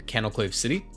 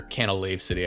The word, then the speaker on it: Canalave City: move deleter over in Canalclave City. Or Canalave City, I always mispronounce it.